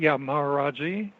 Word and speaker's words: Maharaji: Huzur, Maharaji. I can spell that for you if you'd like.